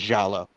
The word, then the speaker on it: giallo: You're talking about giallo flicks? Yeah, and I call them Gallo because as a kid I didn't know how to pronounce them when I first.